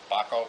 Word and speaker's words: Bahco: I think it's pronounced Bahco, B-A-H-C-O 625, made in Sweden.